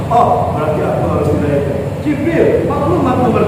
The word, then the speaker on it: Jibril: Jibril, tulisannya Gabriel, bacanya Jibril.